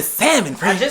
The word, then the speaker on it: salmon: not how I'm gonna salmon I just told my family and friends if you pronounce the L and salmon you're not in my wedding so what I'm gonna